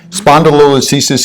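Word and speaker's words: spondylolisthesis: and spelled yeah but spondi means body listhesis means slippage it's that simple uh and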